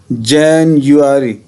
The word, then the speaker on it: January: में ये यू हो, तो आपने इसे यू प्रोनाउंस करना है, ऐसे जैन यू, राइट। और ये जो है उल्टा ई, ये आपको पता है ये आ की साउंड देता है, ठीक है। तो क्या बना इसका जैनुअरी, जैनुअरी, ठीक है।